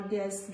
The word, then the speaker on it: guest: Guilty, guitar, guest, guest and all these words, letter U is silent.